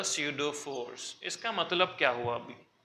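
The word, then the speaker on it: pseudo: this it इज अ सूडो force इसका मतलब क्या हुआ अी सीडो में पी साइलेंट होता है य पिडो नहीं है प्लीज ये सूडो फोर्स है ओके मैं एक एग्जांपल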